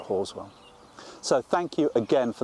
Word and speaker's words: Halswell: christchurch in new zealand called haswell although they pronounce it horswell so thank you again